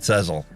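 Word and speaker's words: Sezzle: My wife says I pronounce it wrong. Sezel is how I should pronounce it. She says, I call it Sezel.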